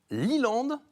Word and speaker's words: Leeland: tout à fait ouais qui s'appelle liland c'est ça c'est bien prononcé c'est ça c'est land pour quelle